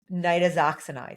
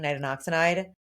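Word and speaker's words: nitazoxanide: Nidazoxinide. Yeah. Yeah. Yeah. Nidazoxinide. That's going to be a struggle for me guys because I've been saying nitoxinide. It's really close.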